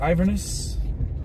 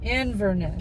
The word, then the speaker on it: Inverness: my God that's it that's it for what iverness Inverness Inverness Inverness we'll see you in Isola